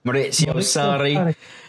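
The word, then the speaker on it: Maurizio Sarri: Been watching your pronunciation videos, of course. We've got to get these things right. Mauricio Sarri.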